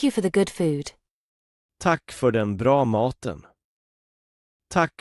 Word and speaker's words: tack: The short pronunciation sounds like the A in cat and the long pronunciation sounds like the A in father.